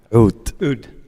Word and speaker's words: Oud: How do you pronounce it in Arabic? Oud. Oud.